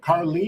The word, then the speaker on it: Carlee: Now I say Carlee, but is this E? How do you say her name? Carlee.